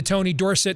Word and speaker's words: Tony Dorsett: And even though I love the fact they went back to the Tony Dorsett, that's how they used to pronounce his name back in those days, the Tony on TV, Tony Dorsett to era unis, which is long overdue.